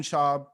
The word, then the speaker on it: Schaub: But yeah, for this episode, I want to introduce very funny comedian Schaub. Am I saying? Am I pronouncing this right?